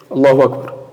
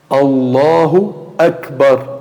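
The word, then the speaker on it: الله أكبر: E até o Hamza aqui, às vezes as pessoas, o que até o imam, quando vai falar, o que ele fala? Allahu Akbar, Allahu Akbar. Ou seja, o Hamza ele não pronuncia. Allahu Akbar. Ele vai direto o quê? Do Ra para o Kaf, com sukun. Allahu Akbar, Allahu Akbar. Ou seja, o Hamza é cortado.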